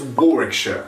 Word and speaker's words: Warwickshire: to look at is warwickshire it looks kind of confusing because it's got a lot of w's and you might want to say it's warwick super simple super fast one goal warwickshire now i need a